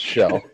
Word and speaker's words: Kjell: No, this guy's name is K-Jell, and it's pronounced Shell.